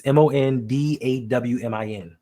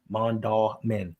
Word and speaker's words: Mondawmin: It's Mondawmin. Mondawmin. Just like Mondawmin. I don't know where you get the dwa.